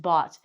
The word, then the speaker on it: bought: It looks like "bogeta", but it's actually just "bought".